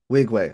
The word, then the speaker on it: Nwigwe: How do you pronounce? I'm so sorry. No, you good. Wigway. Okay, thank you. Okay, Wigway. Okay. Toby Oh, Toby Wigway. and Nwigwe. Yep, Yeah, okay, Nwigwe.